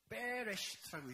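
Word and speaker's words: בראשית: 이걸 경강음이라고 해요. 히브리어에서. 그래서 베레시트라고 읽게 되는데 그건 문법적인 이야기가 아니라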